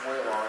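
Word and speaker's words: Walong: Passing the wall long sighting, or way long sighting, whatever the way it's pronounced. Nice horn on that baby. It's usually pronounced way long. It was named after W.A. Long.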